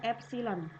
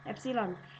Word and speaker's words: epsilon: seperti ini ya tinggal seperti ini nah ini dibacanya adalah epsilon ya epsilon tutorial ragangan tapi itu nah hai eh gambarnya